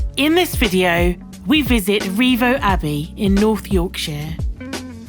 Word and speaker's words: Rievaulx: of valley meaning valley its old local pronunciation was simply rivers and slowly changed to revo when education of the